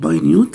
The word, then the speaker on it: minute: minute هنا نطقها minute لما تيجي شيء تفصيلي او شيء صغير او small صغير، دي لو قلتها، لو قلتها minute تبقى بمعنى دقيقة، لان عايز نطقها هنا minute بمعنى صغير جدا او small.